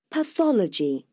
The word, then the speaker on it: Pathology: Pathology. Pathology. Pathology nhấn vào âm 2 và có 4 âm tiếp.